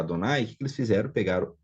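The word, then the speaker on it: אדני: e vai ver então para lembrar o leitor que deveria se pronunciar adonay eles fizeram pegaram é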